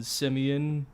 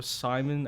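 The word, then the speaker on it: Justin Simien: partly because the director, I guess Justin Simeon or Simon, I don't know how exactly. I think it's Simeon. Simeon. It's how it's spelled anyway.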